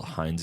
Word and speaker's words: Heinze: Yeah, Gabriel Heinze, I think that's how you say it. It's like Heinz.